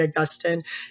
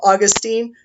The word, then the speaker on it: Augustine: Agustin if you call them Augustine that's totally cool by the way if you go on YouTube and you look up a video called st. Augustine or San Agustin spelled the same way it's just a matter of how you pronounce it I've always said it